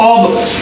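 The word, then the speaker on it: of: ऑब, इसका उच्चारण क्या है, ऑब, इसको ऑफ नहीं बोलते। तो देखिए ऑफ को हम ऑफ बोलते हैं, अधिकतर हम में से ऑफ गलत है। इसका उच्चारण क्या है, इसका प्रोनाउंसिएशन ऑब है, ऑफ नहीं है।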